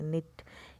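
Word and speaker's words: knitted: नेट किया बुना है नित्य इसमें के साइलेंट होता है यहां पर नेक्स्ट इसको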